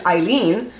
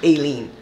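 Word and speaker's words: Aileen: trial although Miss eileene I don't know why people keep calling her alien my mom had an aunt my grand aunt she lived to be 98 years old and it was spelled the same way a i l e e n and her name was Eileen so miss Eileen Cannon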